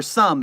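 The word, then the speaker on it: Soem: Remember, Some is spelled S-O-E-M because they're making it terribly hard for me to say their name.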